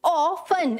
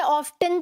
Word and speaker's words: often: AW, ऑफन, FUN, फन, ठीक है, ऑफन, right, okay, meaning क्या है?